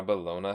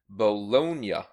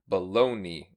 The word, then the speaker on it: bologna: it's common to say baloney instead experts attribute this to English anglicization which often leaves Italian words with y endings like Italia becoming Italy so it should be bologna bologna so you have